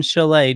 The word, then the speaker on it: chalet: Before we move on, Jar Jar, when we cover this again, because they'll do this again next year, just remember the T is silent in chalet, just like Perron.